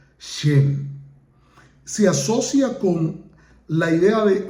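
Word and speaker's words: חן: comúnmente traducida como gracia es en hebreo se pronuncia shen asocia con la idea de favor benevolencia y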